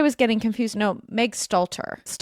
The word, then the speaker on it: Stalter: You pronounce her last name Slater, correct? Yeah. Megan Slater. Wait, Me Slater. Is that wrong? Sorry, I'm actually having eight strokes today. Stalter. Stalter. Who's Slater?